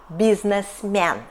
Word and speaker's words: бизнесмен: And in some words, for example, бизнесмен we can read second Е like [э] and like [е] . There are two right variants.